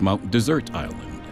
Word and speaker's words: Mount Desert Island: the air here is mount desert island however pronounced by the locals mount desert island this lobster claw